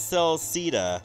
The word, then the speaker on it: Celceta: You want to pronounce it as Celceta, like rhyming of Velveeta.